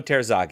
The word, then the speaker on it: Terzaghi: Terzaghi? Emiliano Terzaghi.